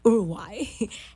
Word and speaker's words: Uruguay: travel down to Uruguay that's how you say it in Spanish Uruguay and Uruguay in English urugai and to experience a